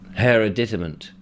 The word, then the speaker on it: hereditament: don't go through hours of her one minute hereditament hereditament okay I can go with that hereditament